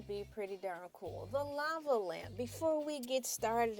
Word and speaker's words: Elay: And my name is LA, pronounced like the city.